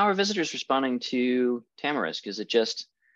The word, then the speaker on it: tamarisk: It's can't remember how you pronounce it, tamarisk something. Tamarisk.